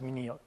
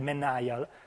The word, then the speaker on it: menial: of very menial task so I recently learned how to pronounce me Neil if I had said mineral and all the audiences with what are you talking about so me Neil I'm very proud of my pronunciation now and as substantially you